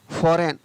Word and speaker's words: foreign: तो सभी में आप देख रहे हैं कि GN किसी भी शब्द के शुरू में हो या लास्ट में हो, वहाँ पर जी को नहीं पढ़ा जाएगा, जी को उच्चारित नहीं किया जाएगा।